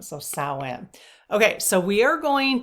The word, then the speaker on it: Samhain: Samhain. So SOW-IN would be like the pronunciation. So Samhain.